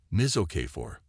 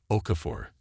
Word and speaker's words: Okafor: breakthrough is how it Miz okay for was it Victor cut her off mispronouncing her name with deliberate carelessness Okafor sir she corrected right he leaned back